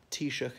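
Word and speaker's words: Taoiseach: could say Shannon if you really want to pronounce the Irish way and T shook as in the prime minister but even speaking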